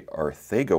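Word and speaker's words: Arcega: Arthega Whiteside. The pronunciation is a T-H instead of the C.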